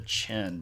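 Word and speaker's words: Qin: of the previous Dynasty called the Chin Dynasty and I know it's spelled with a Q but the language of the ancient Chinese people does not directly uh do a good job of translating into English and that's okay because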